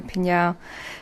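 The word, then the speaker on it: PNAU: They're called Pinyao, another band that if you see it spelt, you can't say it. P-N-A-U. Yeah, in capitals. And if you want to remember how to say it, just think of meow, or you can just go Pinyao.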